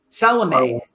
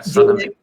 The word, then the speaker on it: Salome: And again, your illustrator, Arwa, last name is pronounced Salome. Yeah, Salome.